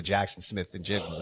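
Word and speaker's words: Jaxon Smith-Njigba: You've gone from I thought you were going to go with JSN there when it comes to Jackson Smith and Jigba.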